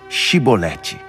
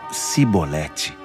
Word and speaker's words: Shibolete: Então eles pediam: Diga, Shibolete. Mas eles sempre falavam Sibolete, porque não conseguiam pronunciar corretamente.